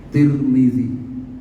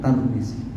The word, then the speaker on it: Tirmidzi: Ada yang membaca dengan dikasroh Tirmidzi, tak dan mimnya dikasroh. Ada yang membaca dengan didhammah, tak dan mimnya Turmuzi. Dan ada yang membaca, kalau nyebut negaranya di Domah, Turmuz, ya, Turmuz, ya. Ada yang membacanya dengan difathahkan tak dan dikasrohkan mimnya, Tarmizi, ya. Jadi kita teringat dengan Pak Tarmizi Tahir, ya. Ya, itu bacaan yang benar, Tarmizi, ya.